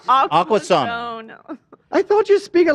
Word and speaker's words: Aquasana: Aquazone, if you pronounce it like. No, No. Zana. S-A-N-A. Aquasana.